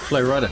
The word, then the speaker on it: Flo Rida: Like me, it's Florida. His name is Florida. He comes from Florida, so he changes to Flo Rida.